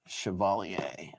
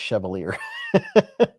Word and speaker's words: Chevalier: Literally, I thought it was Chevier, but it is pronounced shioalier. Let's see. Right there. There you go. I thought it was chevolier.